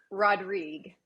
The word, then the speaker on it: Rodrigue: last name Mary Joe rodrig rodrig I always want to throw an s s on it everybody yeah you probably